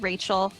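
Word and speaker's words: Raechel: I tell people what my name is they will immediately try to write it down how rachel is normally spelled so when I have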